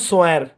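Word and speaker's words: swear: তারপরে এস ডাব্লিউ ই এ আর উচ্চারণ আমি লিখে দেই, কারণ যেহেতু আপনার ডাব্লিউ আছে এবং এস ডাব্লিউ কনসোনেন্ট ব্লেন্ড, এটা একটু সূক্ষ্ম আর কি। তো সম্পূর্ণ শব্দের উচ্চারণ সোয়ার। সোয়ার। সোয়ার।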